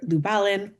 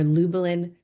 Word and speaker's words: Lubalin: And then we're going to close out with our monster of type, Herb Lubalin or Lubalin, depending on how you want to pronounce it.